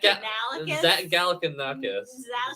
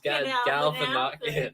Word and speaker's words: Galifianakis: I'm getting the Super Troopers pronunciation in my head mixed up. Galanokis is the semi truck driver. Zach Galifianakis. Galifianakis.